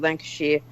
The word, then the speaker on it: Lancashire: alongside British guy of a British soldier at Lancashire Fusiliers is that what is that right I always pronounce that wrong right absolutely right well done